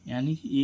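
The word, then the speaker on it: unique: Rule क्या कह रहा है, जब भी कोई वर्ड यू से शुरू होता है और उस यू के बाद एक व्यंजन छोड़कर यानी कि एक व्यंजन छोड़कर कोई स्वर यानी कि वोवेल्स आए तो उस यू का उच्चारण यू होता है।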